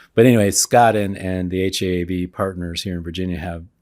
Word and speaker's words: HEAV: Association of Virginia which we don't use the acronym h-e-a-b which is the the first syllable of heaven but anyway Scott and the haab partners here in Virginia